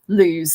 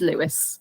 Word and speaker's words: Lewis: club very often that you'd be pronouncing it lose so yeah but it is Lewis so we all know